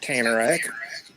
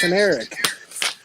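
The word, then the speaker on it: Kanarek: How do you know it's pronounced that? It's Irving Canarak. It's not Canarak. From fucking Georgia. He's telling me how a Jew name is pronounced. Trust me, it's pronounced Canarak.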